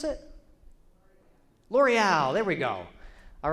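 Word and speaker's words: L'Oréal: How do you pronounce it? L'Oreal.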